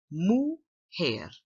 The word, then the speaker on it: mujer: up a vocabulary Oh mujer Moo hair so this word you pronounce it like what the cow says Moo and as humans we have here Moo hear me which means what a